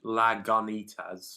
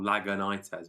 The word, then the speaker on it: Lagunitas: For we would speak it phonetically in the English language, Lagunitas or Lagunitas, but it's got a Spanishy feel, Lagunitas.